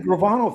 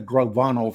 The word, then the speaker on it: Gravano: Gambino family along with oh you said it right the gravano family Sammy Sammy gravano would actually make you think it was the grovano family I don't know why